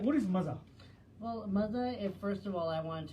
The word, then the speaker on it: Maaza: Maza, like Maza. It's Maza, but spelled Maza, yeah.